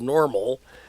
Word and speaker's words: NORML: time we're going to call it that normal n o rml is how it's spelled uh Kirk glad to